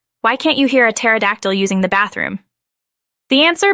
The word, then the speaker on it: pterodactyl: can't you hear a pterodactyl using the bathroom the answer because the p is silent it's a classic that